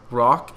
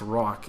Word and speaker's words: Roch: So you gotta roll your R, okay?